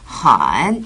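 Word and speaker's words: 很: 정말 예뻐가 되겠죠 어 그리고이 헌이라는 말은요 매우 아주라는 뜻이고음을 아래로 내렸다가 살짝 올리시면서 발음하시면 돼요 한 이렇게요 그렇죠 예쁘다라는 발음은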